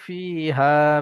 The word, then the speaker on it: فيها: فيها.